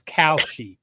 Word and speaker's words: Kalshi: It's KAL, so it's Kalshi.